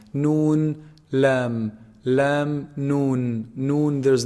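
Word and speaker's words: نون: from the nose meme noon noon is actually pronounced from the tip of the tongue when they hit you see the upper incisors behind them a little bit noon noon it's below below the the lamb articulation point noon lam lam noon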